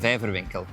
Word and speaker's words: Vijverwinkel: So the aquarium store is, help me pronounce it then because it's very difficult. Our name is De Waase, Aquarium and Vijverwinkel. Vijverwinkel, I like that.